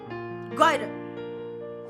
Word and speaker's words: goiter: goiter, C'est ça, goitre. goiter, Hein? goiter, Toi aussi, prononce bien quand même.